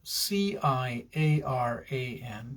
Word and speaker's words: Ciaran: His name was Ciaran, and it is spelled C-I-A-R-A-N, but pronounced Ciaran.